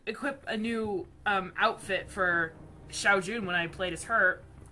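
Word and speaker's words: Shao Jun: I used to pronounce it Xiao Yun. Now I like stumble across my old videos, and I listen to myself say Xiao Yun, and it bugs me.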